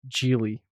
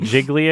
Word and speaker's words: Gigli: It's like Jiggly again, or how do you spell that? What's the title I think again? it's Geely.